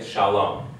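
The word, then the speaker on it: שלום: what okay now so the breakdown in syllables you have a open syllable here sha your mouth stays open and L the closing consonant is what gives it a it makes it a close syllable okay Shalom okay so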